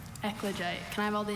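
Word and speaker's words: eclogite: Are there any alternate pronunciations? Just the one. Ekoite.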